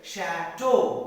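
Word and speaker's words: château: chateau see it is te in use the pronunciation is chateau not a to kick this is shadow a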